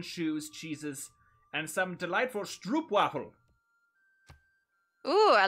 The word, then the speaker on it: stroopwafel: It's pronounced like road, so it's O, so it's stroopwafel?